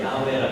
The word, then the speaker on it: 야훼: 히브리어 원어 발음에 가까운 건 야훼라 그래서 야훼 하나님 또는 여호와 하나님이에요.